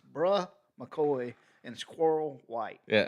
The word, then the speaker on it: Bruh: It's Bruh McCoy, and Squirrel White. Yeah, I think that's Brew McCoy is how they Oh, it's pronounce bruh.